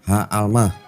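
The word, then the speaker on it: הָעַלְמָה: Sebenarnya kata asli dalam bahasa Ibraninya itu adalah Ha'almah, yang perempuan muda itu.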